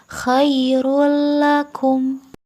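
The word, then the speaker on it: خَيْرٌ لَكُمْ: Khairul lakum, tidak boleh dengung, tidak ditahan. Tidak khairul la tetapi khairul lakum.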